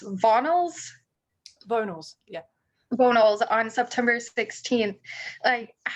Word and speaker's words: Vonals: And Yeah, which you are releasing, is it pronounced Vonals? Vonals, yeah.